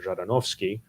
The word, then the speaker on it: Zhadanovskiy: say hey i want to speak to jardinovski first of all kudos to you for pronouncing my last name uh but second of